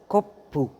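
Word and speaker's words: コップ: है पु तो सु स्मॉल सु के बाद जो भी कैरेक्टर है उसका जो फर्स्ट साउंड है वो थोड़ा डबल प्रोनाउंस होगा। जैसे ये है कोपू तो इसके दरमियान जो है स्मॉल सु ऐड हो गया। तो ये हो जाएगा कोप्पू कोप्पू जिसका मतलब है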